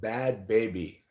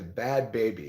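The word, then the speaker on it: Bhad Bhabie: she she had a a meet up with bad baby now if you don't know who bad baby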